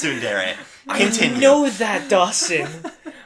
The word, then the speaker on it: tsundere: Yes, and we not- can get back on the same thing, but it's fucking pronounced tsundere.